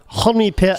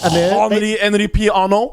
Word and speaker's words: Henri-Pierre: Henri Pierre. Henri Pierre.